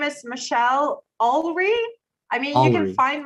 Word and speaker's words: Olree: feel free okay yeah my name is michelle alverie i mean you can find my youtube channel